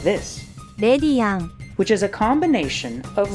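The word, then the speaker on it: レディアン: They just say it like this, レディアン which is a combination of lady and guardian, perhaps also in reference to the Virgin Mary.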